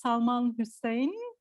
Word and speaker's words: Salman Hussain: Now we are going to listen to our third speaker, Salman Hussain. Am I pronouncing it right?